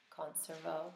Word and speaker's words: conservo: your turneri conser and if that was the ecclesiastical pronunciation remember we would actually pronounce the V so it would be conservo conservare so again if